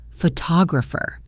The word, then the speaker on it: photographer: Photographer. See how the stress shifted to the second syllable, photographer. This happens all the time in English.